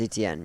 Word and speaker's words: Etienne: Etienne? Travis Etienne, yeah.